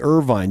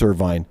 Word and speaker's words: Irvine: give you an example so Bob Irvine at least that's how it's spelled Irvine I RV i n e Irvine you would think it's Bob Irvine that's kayn Irvine the Sprinter for can Canada kayin Irvine on the Canadian national team you would think